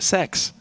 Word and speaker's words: sex: Because in Sweden, guys, the number 6, rather, not the letter, is pronounced sex, which leads to a lot of fun jokes.